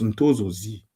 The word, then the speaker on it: Ntosozi: Bon, c'est écrit Ntosozi, mais on le prononce Ntozozi.